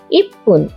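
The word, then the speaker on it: 一分: আগেই বলেছি মিনিট হলো ফুন, তবে কিছু অক্ষরের পরে বসে ফুন এর উচ্চারণ ফুন ও হয়। 1 থেকে 10-এর সাথে ফুন জুড়ে কি হয় দেখি। 1 মিনিট ইপ্পুন, 2 মিনিট নিফুন, 3 মিনিট সামপুন, 4 মিনিট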